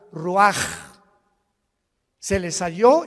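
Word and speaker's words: רוח: Roach así como suena se pronuncia la c en hebreo como J ruaj se le só y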